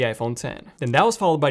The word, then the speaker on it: iPhone X: 8 the iPhone X which is a Roman numeral and it's pronounced the iPhone 10 then that was followed